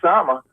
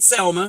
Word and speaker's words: Selma: And this is what I told Auntie Sama. I said her name wrong. Aunt Selma, you had it right, Aunt Selma.